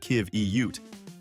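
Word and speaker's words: qiviut: Thanks to a super insulating undercoat called kivot, pronounced kiv eute, these shaggy titans shrug off temperatures that would freeze your soul.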